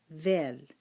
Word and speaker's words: ذال: ذال. Let me fix it. ذال. That's the name. That's how we say it.